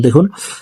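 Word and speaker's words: ض: Scene শিন সদ স দ হরফকে মোটা করে উচ্চারণ করব। আপনারা আমার সঙ্গে বলুন। দেখুন দ।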